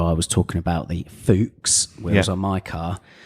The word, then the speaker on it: Fuchs: of germans that said it's pronounced fuchs because it's the german word for fox excellent and the other